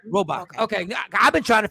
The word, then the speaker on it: Robach: Robach. Yeah, you said it right. Robach.